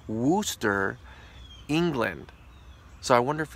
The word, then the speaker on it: Worcester: shoshana sauce was invented in 1830s in Worchester pronounced Worcester England so I wonder if it's called Worcester